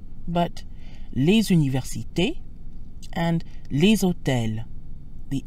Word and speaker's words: les universités: Notice how les sounds when followed by a vowel, as in les universités. The usually silent S sounds like a Z. Les universités. This is called liaison and helps words flow together.